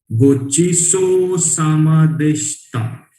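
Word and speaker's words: ごちそうさまでした: श एंड त हम लोग नाश्ता बोलते हैं ना, वो वाला जो स्टा प्रोनाउंसिएशन है वो यूज करना है यहाँ पे. गोचिसो सामादेष्टा, गोचिसो सामादेष्टा.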